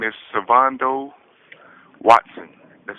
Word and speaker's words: Svondo: Uh my full name is Savando Watson. That's spelled S V O N D O W A T S O N.